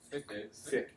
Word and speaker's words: Fick: Starts with an F, rhymes with ick. Fick, the Fick equation, right?